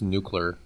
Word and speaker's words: nuclear: Everything was nuclear powered. We had flying cars, all that kind of stuff, because we had limitless energy. So I've always wondered. It's actually pronounced nuclear. Nuclear. Yeah.